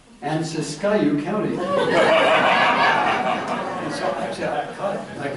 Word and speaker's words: Siskiyou: By the way, it's not exactly pronounced Tehama. We call it Tehama, and it's not Siskiyou. We call it Siskiyou.